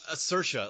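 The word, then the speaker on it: Saoirse: And Saros Ronin um how do you say her name? Sarah Cersa like in Cersa. Oh wow. Cersha Ronin, I gotta thank Ryan Gosling for that.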